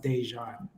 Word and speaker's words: Dejan: pronounce my name so my middle name is pronounced dejan oh my apologies no